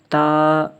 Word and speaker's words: ت: لہجے میں پڑھنا ہے۔ جس طرح اردو میں پڑھا جاتا ہے بے تے سے، اس طرح ہم نہیں پڑھیں گے اس کو توئے زوئے جیسے پڑھتے ہیں اردو میں، یہ عربی میں پڑھا جائے گا با تا سا، اسی طرح طا ضا،